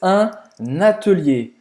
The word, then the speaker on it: atelier: Então presta atenção, porque a pronúncia não é igual. É parecida, mas não é igual. A gente fala atelier e no francês é atelier. Fechado. Atelier.